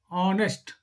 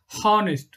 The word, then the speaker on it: honest: So we pronounce honest, an honest person, right? Not honest. Okay, an honest person. H is here as the silent word. No, H silent here.